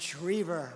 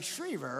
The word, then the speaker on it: Schriever: And Schriever, right?